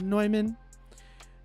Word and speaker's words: Neumann: by neumann it looks like newman but it's pronounced neumann um dante you said my apollo is clicking